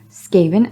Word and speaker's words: Skaven: got it we're good Skaven as in Craven not without good reason